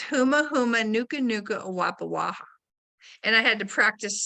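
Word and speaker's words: humuhumunukunukuāpuaʻa: So I have to take it apart by syllables, which is tricky. And it's huma huma nuka nuka awapa waha.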